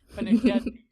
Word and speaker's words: Pennacchietti: Pennacchietti.